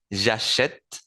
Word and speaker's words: j'achète: Cuando yo lo conjugo en las tres primeras personas del singular y en la última del plural, voy a necesitar pronunciar la primera E.